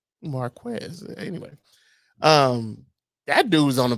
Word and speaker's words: Marquez: It's Marquez.